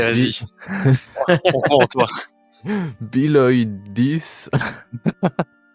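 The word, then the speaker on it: béaloideas: Ouais, en fait, c'est écrit B-E-A-L-O-I-D-E-A-S. Donc, je pense que c'est Biloidis. Biloidis. Le problème, c'est que des fois, c'est écrit des trucs et en fait, ça se prononce pas du tout comme c'est écrit.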